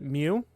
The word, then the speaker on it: Myoo: Also, one thing that I should say is that MYOO, he told me yesterday that we pronounce it Mew. So, yeah, we're calling him Mew.